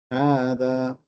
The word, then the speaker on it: هذا: Now you have to pronounce هذا fully because it is a full alif. It is not just a kasra. هذا.